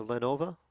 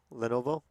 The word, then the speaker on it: Lenovo: right now it's a how do you pronounce it a Lenova Lenovo oh it's a Lenovo yeah I don't like